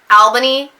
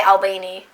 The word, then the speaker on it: Albany: Every time I see Albany, I always want to say Albany. I still want to say that, and that's not how it's pronounced. It's Albany. I'm still not might be saying it right.